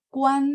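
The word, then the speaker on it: 冠: juara 1 gitu ya Jadi huruf ini dengan tulisan yang sama itu ada dua cara baca tergantung artinya kalau dia sebagai mahkota itu bacaan ada satu tapi kalau dia sebagai quantun juara 1 champion itu bacaan ada 4 gitu ya jadi apa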